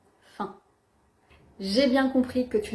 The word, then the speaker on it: faim: en revanche dans fin on ne prononce pas le M c'est le son 1 fin j'ai bien compris que